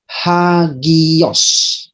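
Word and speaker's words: ἅγιος: Ada tanda khusus untuk menunjukkan di mana terdapat pelafalan H dan di mana tidak. Perhatikan kedua kata ini, yaitu akowo. Di sini tidak ada tanda untuk dibunyikan atau hembus. Tetapi ada di dalam kata hagios.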